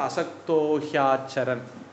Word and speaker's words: असक्तोह्याचरन्: சமாச்சார அடுத்தது அசக்தஹ ஹி அது அசக்தோஹி அப்படின்னு ஆகிடும். அசக்தஹ ஹி ஆச்சரன் ஹி ஆச்சரன் சேரும்போது ஹியாச்சரன் மாறிடும். எல்லாம் சேரும்போது அசக்தோ ஹியாச்சரன்.